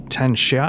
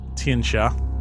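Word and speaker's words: Tian Xia: So I made the arduous dangerous journey over the crown of the world uh to is it Ten Sha? How how do you say where we're Tian Sha Tian Sha to to Tien Sha I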